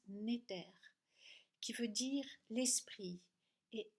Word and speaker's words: Néter: vient du mot Égypte N-E-T-R qui se prononce Néter, qui veut dire l'esprit, et al qui veut dire lié à, venant de.